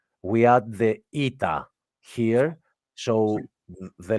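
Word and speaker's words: ήτα: I'm talking about because this letter is actually called ITA that's how it's called ITA so that's why here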